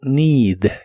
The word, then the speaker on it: need: Y después el verbo need, que significa necesitar. La doble E de esta palabra también se pronuncia como una I larga o doble.